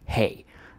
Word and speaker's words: have: And I know a lot of you must be quite annoyed with the fact that we just pronounce it like H-A, hey.